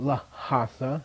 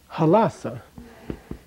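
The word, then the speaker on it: Lhasa: be that way forever it's not laa it's halasa but if you were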